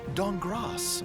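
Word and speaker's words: Dankgrass: the C-Team, Amy Falcone's Walnut Dongras. The K is silent.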